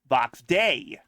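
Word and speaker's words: Vox Dei: And and before anyone asks asks Vox day a is not spelled D A Y. It's called, it's spelled vox day a d e i which is Latin for the voice of God.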